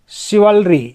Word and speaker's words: chivalry: फिर है CHIVALRY, शिवलरी।